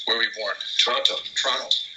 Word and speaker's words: Toronto: Toronto. Canadians don't pronounce the T.